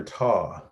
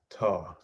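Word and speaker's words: tau: means that well this is the greek letter tah tah some pronounce it tao ta the greek letter taw this guy this is known as the greek letter taw and this stands for torque so the net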